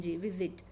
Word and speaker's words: visit: Okay, so the stress is on first syllable, so you're not supposed to double the consonant T and just add ed or ing. Visit, VISITED, visited, VISITING.